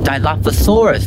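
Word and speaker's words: Dilophosaurus: A threeted image with a claw mark at the tip of each to velocaptor means fast th pronounced diloposaurus.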